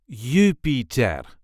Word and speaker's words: Jupiter: This is the way we say Jupiter. Jupiter. There is a light emphasis on the first syllable, Jupiter.